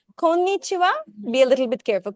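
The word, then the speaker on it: こんにちは: So we should use ha, but we're pronouncing it as wa. Ni. Yeah, exactly. Kon-ni-chi-wa. WHA like that. No. Just wa. We're writing heche, but the pronunciation is wa only.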